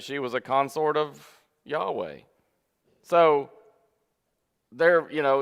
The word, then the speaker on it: Yahweh: it or whatever but typically people pronounce it yahweh something similar to that and then of course